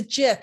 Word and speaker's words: GIF: She's like, it's not a GIF, Gail. It's a GIF. I was like, but it's spelled with a G.